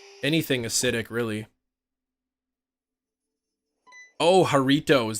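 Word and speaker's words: Jarritos: anything acidic really oh haritos that's how it's pronounced okay I guess that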